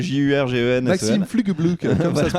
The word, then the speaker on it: Jurgensen: Comment on écrit Jurgensen pour Jurgensen. J'allais te dire comme ça se prononce. J'avais envie de dire comme ça se prononce. Mais en vrai, c'est Jurgensen.